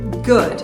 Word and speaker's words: good: no começo então aqui a gente não vai falar good e sim good good esse D ele é quase não falado então é bem suave good morning good morning o g último g de Morning também esquece é como se ele fosse mudo good morning good afternoon é